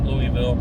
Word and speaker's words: Louisville: Don't say Louisville down there, though, or Louisville. You'll probably get beat up. Louisville, that's how they say it down there in Kentucky.